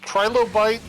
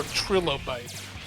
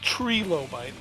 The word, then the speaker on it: trilobite: Looks like Wikipedia gives the pronunciation as either Trilobite or Trilobite. Interesting. Not Trilobite. You have two options and you still chose wrong.